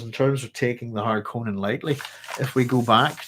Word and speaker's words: Harkonnen: There's an umlaut on the real word, Kevin, but I've been pronouncing it that long that way, so I go with Harkonnen. But it's I'm from Northern Ireland, so it's simply how I pronounce my vowels. So yeah, I've tried some of them out, but it's Harkonnen. O.